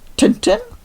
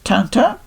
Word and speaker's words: Tintin: I know in English a lot of people call it TinTin, the series, the books and etc. But being brought up in Germany, I'm used to the French pronunciation, the original one, which is TinTin.